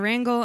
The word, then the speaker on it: Rangel: Juliana Realel, and she's going to teach you how to say her name correctly. Thank you. Howdy. Good morning again. My name is Juliana Rango.